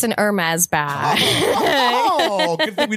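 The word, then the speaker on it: Hermès: It's an Hermes bag. Oh, good thing we didn't miss that. The H is silent.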